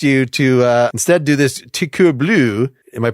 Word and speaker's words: Coeur Bleu: That's different than what I successfully convinced you to instead do this Coeur Bleu. Am I pronouncing that right? Coeur Bleu. Close, very close. Coeur Bleu.